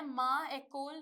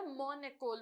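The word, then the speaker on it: mon école: मैं माँ एकोल नहीं बोलूंगी, क्यों? क्योंकि ये मैल प्रोनाउंसिएशन है, ये दोनों वॉवल साथ में प्रोनाउंस हो ही नहीं सकते, माँ एकोल मैं बोल ही नहीं सकती, राइट? इसीलिए मैं मॉन एकोल बोलूंगी।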